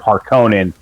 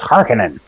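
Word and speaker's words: Harkonnen: uh the new Dune movie and instead of harkonin it was harkening and it just it just dropped me out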